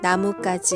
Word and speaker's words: 나뭇가지: 안녕하세요 콩 스프 한국어 교실입니다 오늘은 나무까지 의 발음과 표기에 대해서 알아보도록 할게요 오늘 다룰 내용은